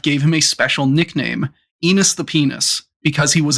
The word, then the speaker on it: Enos: You don't give a monkey a name that rhymes with penis, like because you like him.